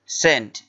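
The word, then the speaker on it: scent: সেন্ট অ্যাস উচ্চারিত হবে না, সাইলেন্ট ওয়ার্ড এটা।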